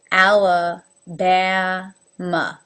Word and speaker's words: Alabama: work for the AA alabama you can see my mouth goes ala Bama alabama alaska again there's 3